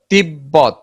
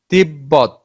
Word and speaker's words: তিব্বত: ব এর সঙ্গে ব ফলা যুক্ত হলে ব উচ্চারণ স্বাভাবিক থাকে।